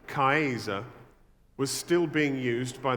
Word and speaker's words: Caesar: 2,000 years later, the word Caesar, which would have been pronounced Kaiser, was still being used by the Germans for their leader.